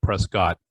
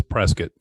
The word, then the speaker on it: Prescott: And those who don't know how to pronounce where Desi is, she's in Prescott, Arizona, not Prescott, Arizona. It's Prescott.